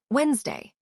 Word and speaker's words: Wednesday: Wednesday. Did you say weddz or wz day? Here's the truth. Almost nobody pronounces that middle d not your teacher. Not the news anchor. Not even the dictionary police.